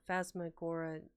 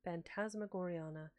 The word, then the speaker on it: Phantasmagoriana: And because of their interest in the Phasmagoranania, I think it was. Let me look at that again. Pronounce it correctly. Because of their fascination with the book Phantasmagoriana.